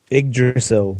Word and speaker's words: Yggdrasil: One thing to note, you can't invade directly to, how do you pronounce the tree again, Craig? Yggdrasil.